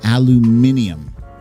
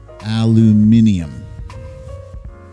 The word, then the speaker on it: aluminium: is a fun one it does depend on your main language so folks who live in london pronounce it aluminium aluminium i have somebody